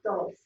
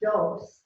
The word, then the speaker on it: dos: Number 2 is dos. Dos. Dos. Remember where your D is. Tongue at the roof of the mouth behind the front teeth. Dos. So it's not dos, the way we say D's.